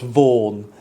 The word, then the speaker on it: Vaughan: Roger Vychan, later dubbed Vaughan, it would have been Vychan in the 15th century, but it's come to be pronounced Vaughan since.